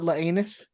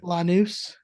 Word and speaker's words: Lanús: only purchasing It's not Laanus. you and your pronunciations today are just not on point, Ed. Lanús.